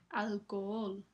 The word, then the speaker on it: alcohol: Alcohol. Este es otro truco, pero aquí la h no se pronuncia.